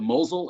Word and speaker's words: Mosel: rhine and the moselle the french say moselle the germans called the mosul and spell it a little differently but this itinerary is